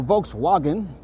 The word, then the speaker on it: Volkswagen: Oh, Volkswagen if you're pronouncing it in German. Volkswagen.